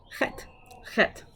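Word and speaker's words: חית: is you think about when you say like blech, blech, blech. It's that sound at the end, blech. Or ugh, like, oh, I forgot that, ugh, that sound. Chet.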